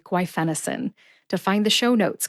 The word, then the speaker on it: guaifenesin: do is practice saying gu fenison and you'll Master it too look at the written pronunciation with the emphasis on Fen in the show notes